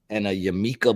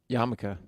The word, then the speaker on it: yarmulke: More says Diamond District and a Yamika bling bling. Yarmulke.